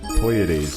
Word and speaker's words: Pleiades: Fine, The P is silent. Also Pleiades. Pleiades, yes.